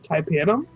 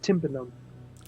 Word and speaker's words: tympanum: of tympanum up because i didn't know that's how you said it and i was called it taipanum all night it's one of my